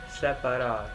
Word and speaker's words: separar: Separar. Separar. Good, separar. So in English what we pronounce is separate, maybe like an E sound, but if you look at how it's written, it's an A.